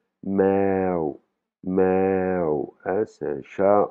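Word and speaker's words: แมว: Par exemple, pour dire chat, c'est avec une voyelle longue, on a le "e" qui est deux fois, donc ça va se prononcer meo meo, hein, c'est un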